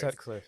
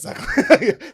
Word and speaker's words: Sutcliffe: Sutcliffe. It's Sutcliffe.